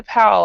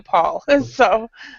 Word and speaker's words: Paul: abroad for so long, I've gotten used to pronouncing names with AU with an ow sound. So if I call you Pal, I do apologize, but I will try to call you Paul.